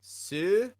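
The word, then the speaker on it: する: And so, let's go ahead and, without further ado, hear how to pronounce the word to do. Suru.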